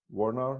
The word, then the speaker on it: Woerner: of virtually casting foundation today we have Warner with us I bet I provide that last